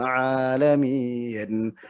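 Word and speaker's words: العالمين: Alhamdulillahi rabbil alamin. Alamin pakai ain di situ ya. Artinya apa? Alhamdu, segala puji. Li, untuk Allah, Rob. Alamin, alam artinya semesta alam.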